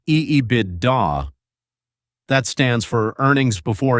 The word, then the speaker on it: EBITDA: It is called EBITDA, pronounced EEIDA.